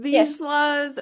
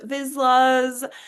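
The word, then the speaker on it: Vizslas: Everyone says it a little different depending on where they're from. Visas. Vizlas.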